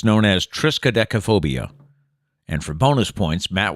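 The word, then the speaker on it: triskaidekaphobia: is if it bothers you it's known as triscodechophobia and for bonus points matt will now spell it silent p t p uh riskadechophobia riskadeco no it's triskadekaphob oh okay so at least i had some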